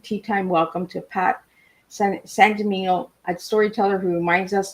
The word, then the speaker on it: Sangimino: Sangimino. Sangimino.